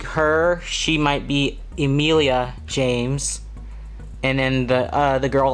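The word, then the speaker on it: Jaymes: other way Valentina Isabel Juliet ah BIA Knox James with the Y like J a ym es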